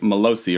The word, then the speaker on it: Melosi: And I'm saying it right? Melosi, right? That is correct.